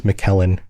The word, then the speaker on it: McKellen: And then you bring up Gandalf I think Ian Ian McKellen Kellen's McKellen that's how you say it.